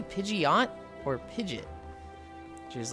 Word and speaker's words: Pidgeot: You know, Pokemon Blue, I saw the Pidgeot, and I was like, Pidgeot sounds wrong because it sounds like too hard of a like pause between syllables.